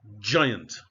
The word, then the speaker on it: giant: Now, when the letter G is followed by E, I, or Y, it is pronounced as a J. Otherwise, it forms a hard sound as in gold, G.